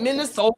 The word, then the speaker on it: Minnesota: The people that's from Minnesota, that's how they say it. Minnesota.